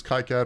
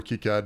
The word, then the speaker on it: KiCad: just a short answer i use kai-cat or kicad depending on what you say how you say it how am i supposed to say it jeremy i think you could say it either way i i think i'd